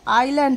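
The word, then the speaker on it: island: ছিল এটা প্রোনাউন্সিয়েশনটা দেখো আইল্যান্ড হবে এস টা সাইলেন্ট থাকবে এস টা উচ্চারণ হবে না তাই হবে আইল্যান্ড একটা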